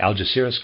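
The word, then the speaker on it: Algeciras: Conference and readers aside let me spell that a-l-g-e-c-i-r-a-s Al jazsiris probably sorry the AL jazeeris conference maybe let me start the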